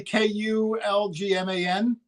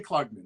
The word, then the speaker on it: Klugman: It's probably Kulgman. Klugman. Yeah, I don't know how if else that's would you like. pronounce it other than Klugman? I thought it might be like Klugman. Klugman? No, it's definitely Klugman.